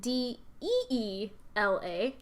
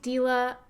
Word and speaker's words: Deela: I was growing up everyone would say Melanie dela and I'm like no that's not yeah but my parents